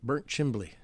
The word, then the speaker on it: Burnt Chimney: Like we have a place called Burnt Chimney in Franklin County, and most of the people in Franklin County call it Burnt Chimbley.